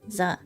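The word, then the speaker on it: ざ: You pronounce this as za.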